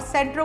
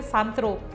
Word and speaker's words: सेंट्रो: सेंट्रो से याद आया, मुझे याद है तब मैं बहुत छोटी थी और सेंट्रो को भी उस टाइम पे लोग बोलते थे संत्रो, सेंट्रो, संत्रो। सो इसकी सही प्रोनाउंसिएशन होती है सेंट्रो।